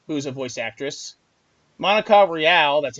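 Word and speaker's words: Rial: It started off with Mars Girl and Jamie Marchi, who's a voice actress, Monica Real, that's how you pronounce it, Greg Averies, which is a voice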